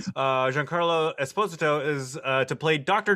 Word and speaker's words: Giancarlo Esposito: learned how to say his name correctly uh giancarlo esposito is uh to play doctor doom in the